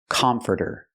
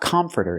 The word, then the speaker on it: comforter: pronounce the word comforter it's not comforter it's not the a sound like hot and stop it's the e uh uh sound like cup and up CC closed and relaxed come come comforter we hear the T pronounced like a fast D further further come comforter